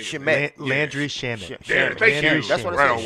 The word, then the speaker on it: Shamet: Landry Shamet.